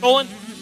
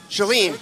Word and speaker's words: Shalene: Is that how you say it? Is it Sholin? Shalene. Shalene, I'll fix that and get back with it.